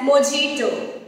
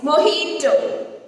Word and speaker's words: mojito: It is often mispronounced as mojito. No, it's mojito. Mojito. The letter J is replaced by H.